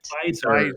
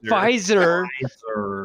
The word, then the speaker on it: Pfizer: Pfizer. Pfizer. Pfizer. Pfizer. What did I say? The P is Pfizer? silent. Hip. The P is silent, just like the Okay.